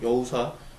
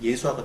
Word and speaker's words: 여호수아: 예수 그리스도를 기대하게 되고, 여호수아, 히브리 발음 여호수아, 헬라어로 하면 예수아가 되죠.